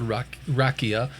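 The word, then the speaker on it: raqia: which is a Hebrew word uh r-a-q-i-a but it's spelled rakia which is referring to just the globe we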